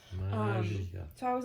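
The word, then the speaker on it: Maggia: Magia. Yes, I have to remind you of that now because the Spider-Man game taught us we've been pronouncing that wrong the whole time. Magia.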